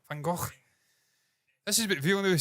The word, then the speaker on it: Van Gogh: well, but people just butchered it like they do with Van Gogh. Van Gogh, it's not Van Gogh. It's from Holland. He's Dutch. Van Gogh.